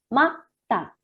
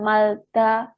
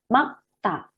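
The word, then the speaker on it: 맑다: sini ada double ya, ada bacim double yaitu R sama G. Ini yang dibaca apanya? Ini yang dibaca adalah huruf G-nya ya, sehingga bacanya adalah makta. Bukan malta atau bukan malekta gitu ya, tetapi ini makta yang dilafalkan huruf G-nya.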